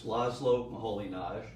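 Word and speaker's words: László Moholy-Nagy: is it because it's lazlo maholinage which doesn't look like how it's spelled it has something to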